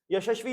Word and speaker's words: YASASVI: YASASVI you can say, or here the pronunciation is YASASVI. It is sort of a blessing that is being given.